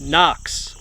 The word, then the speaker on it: HOKC: this is the brand I've been told that's pronounced Knox all right so that